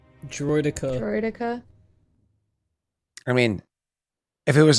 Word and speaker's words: droideka: what did i do you pronounced dradika wrong how do you so how do you pronounce draedika wrong droideka i mean if it